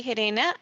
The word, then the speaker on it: Gerena: okay good morning everyone my name is herrena I'm Industrial Engineer at General Motors Canada about